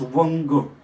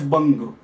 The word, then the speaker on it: Vanga: The Sanskrit name of this territory was Vanga. This v is corrupted as b and it is called as Banga.